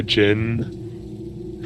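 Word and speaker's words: djinn: Yeah, you have like a Jin, or like a genie. Jin is spelled with a D? Yeah, that's how you spell Jin. I never knew that. Yeah, it's actually pronounced genie.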